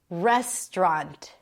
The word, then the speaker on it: restaurant: Primary stress is on the first syllable yet again. What about this restaurant?